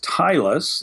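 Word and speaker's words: Zytlus: This one is from Tylus and that's spelled zed or z depending on where you're from. Z Y T L U S. Stylus. It sounds like it sounds like stylus with a zed.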